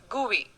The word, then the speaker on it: GUI: etc window is a graphical user interface gui pronounced as gui between a computer and its user it has